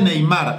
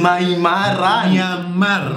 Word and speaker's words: Myanmar: Mono sin nariz de Neymar. De... ¿cómo se dice? Myanmar.